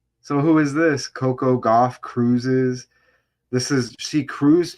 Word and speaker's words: Gauff: telling me about that golfer. The opponent's name is Goff. Coco Golf, pronounced golf.